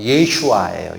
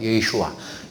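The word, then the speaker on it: ישוע: 원래 히브리어로 발음과 비슷하게, 최대한 비슷하게 발음하면 예슈아예요. 예슈아.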